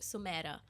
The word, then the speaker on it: Sumaira: So my name is pronounced Sumaira. And I in college started telling all my new college people it's Sumaira.